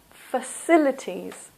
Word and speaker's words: facilities: The next one, facilities. Facilities. This also is a, and the stress is here in the second syllable, facilities.